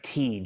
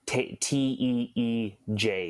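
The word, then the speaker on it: Tij: It's like Tej, like Teej is kind of like the pronunciation I've been told.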